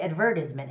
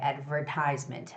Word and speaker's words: advertisement: and lastly advertisement advertisement now this word if you read it in a british english way then it would be advertisement advertisement advertisement but overall when you're